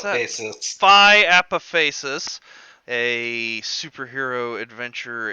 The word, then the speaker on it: Apophasis: How do you pronounce that? Apophasis.